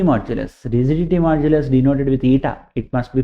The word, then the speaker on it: eta: elastic moduli rigidity modulus rigidity modulus denoted with ITA it must be pronounced as ITA and within the elastic limit the ratio of